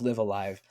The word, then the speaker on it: Live A Live: So I I I I always thought it was live Alive, but nope. Um, the Japanese developers in the uh media for this game in 2022 consistently say Live Alive, so that's what I have to call it now.